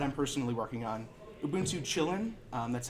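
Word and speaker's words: Kylin: formerly LXDE that I'm personally working on Lubuntu chillin that's how it's pronounced for Chinese users would ensue Monta and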